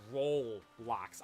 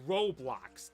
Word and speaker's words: Roblox: life is like roblocks I thought for the longest time it was roll blocks I don't realize it was wait is it just Ro how do how do you even what's even the proper pronunciation yes Roblox I always thought it was robloxs oh my god dude